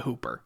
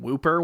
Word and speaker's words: Whooper: So it's spelled Whooper, but it's known as the Hooper. So like I kept calling it Dungarvon Whooper when I first started